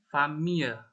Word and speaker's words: famille: Cara bacanya untuk famille ya, itu famille. Famille. Ma famille, kadang E-nya itu nggak terlalu dibaca ya, ada native speaker yang E-nya itu nggak terlalu jelas.